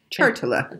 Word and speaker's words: Chartula: It's called the Chartula. Chartula. Chartula. And it's spelled exactly how it sounds, Chartula.